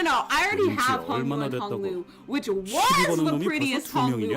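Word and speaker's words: Hong Lu: Yo, cuz Hungu's name is actually pronounced Hunglu.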